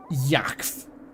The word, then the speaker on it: Yakf: Yakf. I think that one's actually the canonical pronunciation of the swear word.